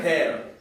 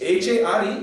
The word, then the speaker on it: Hare: He actually said hair. Hare Krishna, Krishna Krishna, hair, Ram, Ram, hair. So Maharaj said it's H-A-R-E, but it's pronounced Hare.